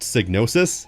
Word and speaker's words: Psygnosis: It's Signnosis. And yes, it's pronounced Snosis. How do I know? Because of this 1996 promotional video. Snosis is at the forefront of development and design.